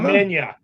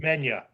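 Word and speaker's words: Khamenia: Komenya. Komenya. Okay. Very good. Komenya.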